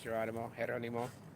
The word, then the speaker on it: Geronimo: prison that they use to detain and hold Geronimo, that's how it's pronounced in English, Geronimo. You want to go with the accent.